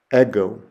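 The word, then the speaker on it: ἐγώ: And the Greek word I have there is the word for I, ego, ego.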